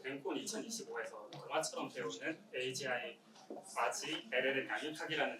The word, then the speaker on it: AGI: 제가 제목에 AGI를 학습한다고 했는데 AGI가 좀 생소하신 분들이 있을 것 같아가지고 AGI, 한국어로 발음은 아지라고 합니다.